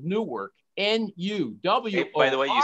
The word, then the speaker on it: nuwork: his new project his big project is called new work n-u-w by the way you said it right